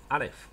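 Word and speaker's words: אלף: 是第一个 Aleph 发什么音呢？它的名字虽然叫做 Aleph，但是你要知道它是不发音的，它是不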